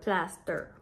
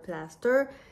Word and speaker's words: plaster: Some might call it "un pansement," but in Quebec, it's "un plaster." Some pronounce it "plasteur." It's "un plaster."